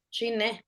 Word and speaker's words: shine: Shine, ajá. Shine, acento en la E. En la E, shine.